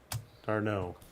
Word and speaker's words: d'Arnaud: Darno.